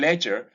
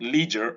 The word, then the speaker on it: ledger: This is ledger and not leisure. I hear a lot of people say leisure. Well, in any case, the pronunciation of this word in British English is ledger. Americans would say leisure. It's up to you to choose which one to use.